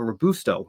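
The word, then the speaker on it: Robusto: Apparently, it's Isabella Rabusto.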